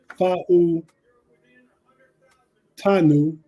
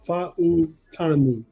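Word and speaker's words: Fautanu: the Steelers pick Troy F tanu four syllables F tanu that's how you say his name y'all just in case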